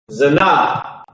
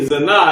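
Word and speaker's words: זנה: This is the translation Zanah, and that's actually correct. Here's the pronunciation Zana, because Esau is a devil. This is not the pronunciation. The pronunciation is Zanah.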